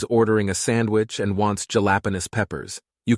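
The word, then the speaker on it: jalapeño: A guy's ordering a sandwich and wants jalapenos peppers. You call it back pronounced correctly, jalapeno.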